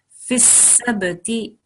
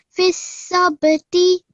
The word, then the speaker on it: فِي السَّبْتِ: Remember, when we have a ba with a schoon, then we have to make a slight jerking sound there. Fis-sabti. Fis-sabti.